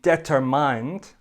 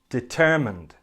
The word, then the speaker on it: determined: budget for the project don't say determined say determined determined he is determined to